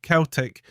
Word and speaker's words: Celtic: day in 1887 the club's name Celtic pronounced Celtic was brother walford's own